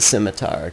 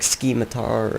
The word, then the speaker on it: Scimitar: on rats with a scimitar cuz simitar sucks and yes I pronounce it Scimitar people say like skiar or skiar they botch it that's what I'm trying